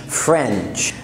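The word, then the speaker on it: French: الجنسيه اسمها فرنش، ويا ريت تقول التي قبل السي اتش، فرنش.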